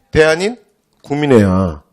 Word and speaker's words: 대한인 국민회: 이렇게 발음하면 어떡해요? 대한인국 민회 이렇게 읽으면 어떻게 해요? 그럼 퇴장이에요. 이해됐죠? 누가 그렇게 발음하니? 됐죠? 그래서 띄어쓰는 거 기본이지. 그래서 대한인 국민회 대한국민의회예요.